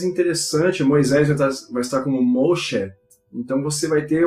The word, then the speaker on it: Moshe: Então, o mais interessante, Moisés vai estar como Moshe.